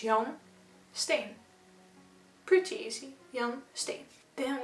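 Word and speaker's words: Jan Steen: you honest with me and then you have johnstone not jen st steven i don't know how you pronounce it uh in english or in another language but um so it's young stain pretty easy young stay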